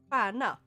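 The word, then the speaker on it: stjärna: Swedish the Swedish word word for star is quana which is spelled s tj a which is like an a with two dots about it above it uh r n a pana because if we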